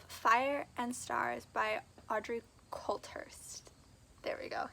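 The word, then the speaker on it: Coulthurst: five is of fire and stars by audrey culthurst there we go said it right and this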